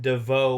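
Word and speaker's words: Devaux: Ashton is Ashton DeVoe Walsh Pelly. True. DeVoe with an X on the end, which is cool. And friggin' a slew of vowels that are not pronounced also in the middle.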